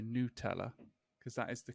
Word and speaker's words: Nutella: it says it's like the pronunciation is n-o-o new teller which is weird because